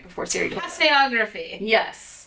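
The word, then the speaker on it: tasseography: The official pronunciation. What's the official scientific name for tea leaf reading? Tassiography is a term. Tassiography.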